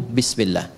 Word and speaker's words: bismillah: Asalnya bismillah. Dibaca nyambung bismillah. Dan cuma di bismillahirrahmanirrahim alifnya hilang.